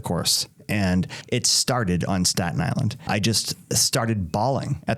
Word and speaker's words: Staten Island: Not Staten Island. Staten Island, we just put it all together.